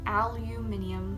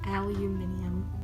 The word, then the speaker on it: aluminium: it out you mininum aluminium I say it like that I know I know totally not American aluminium this one is the